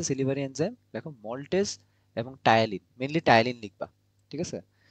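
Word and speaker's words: ptyalin: Salivary enzyme দেখো maltase এবং টায়ালিন, mainly টায়ালিন লিখবা। ঠিক আছে, দেখো পি, টায়ালিন বানানটা খেয়াল করো, পি দিয়ে স্টার্ট, টায়ালিন আর হচ্ছে মল্টেজ।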